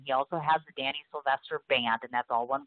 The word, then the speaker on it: Sylvestre: and it's spelled – is it pronounced Sylvester or Sylvestre? I wasn't quite sure. Sylvester. It is Sylvester, so I'm right.